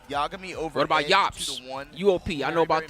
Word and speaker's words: UOP: See, it's spelled weird. It's spelled U. It's pronounced weird, but it's spelled UOP. Right here, Yop.